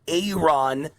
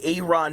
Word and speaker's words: Aaron: A I think he pronounced it Aon uh Aaron Ford. Aon Ford gets he gets mad when you call him Aaron Aon Ford.